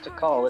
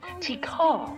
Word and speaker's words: Tikal: Now, I guess I've been saying it wrong. It's not Tikal, it's Tikal.